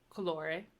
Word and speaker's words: colore: oh so you have colore which is the closed o and then you have